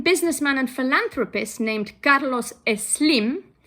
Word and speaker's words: Slim: and philanthropist named Carlos es slim his name is spelled s-l-i-m but everyone will pronounce it with an e in front but I must make